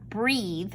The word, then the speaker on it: breath: this word down here this looks like breathe but it's not it's breath and that has the short e sound this word looks like